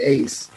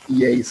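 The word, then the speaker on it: EACE: Now, we met through Eastern Ace. I think that's how you pronounce it. It's EAs. Yeah. They don't like that EAs. They don't like EAs. They don't like that. Ace.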